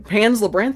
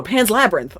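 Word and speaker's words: Pan's Labyrinth: Pans Lebranth. It's Pans Labrinth, right? No, Pans Labyrinth.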